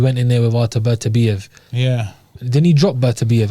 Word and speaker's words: Beterbiev: Bertabiev. It's not Bertabiev, though, isn't it? Beterbiev. Beterbiev. You can say Beterbiev or Beterbiev.